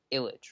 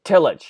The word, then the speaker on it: Tillich: this Skype call, Martin Luther King was into Illich, right? Is that how you say it? Tillich, yeah.